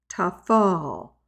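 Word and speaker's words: טפל: Lama Tet hey lamad the pay also represents the F sound and we will get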